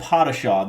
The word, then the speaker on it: Padishah: mob craft called uh pottershaw we were looking up how to say this let me tell you because we did not want to say it wrong so it is called patasha this is um a